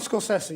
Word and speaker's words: Scorsese: Martin Scorsese. You know, we've been mispronouncing his name Scorsese for years, but that's how he says it.